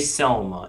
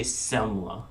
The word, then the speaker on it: Semla: say his name correctly it's not dj Selma it's DJ semler DJ semler DJ s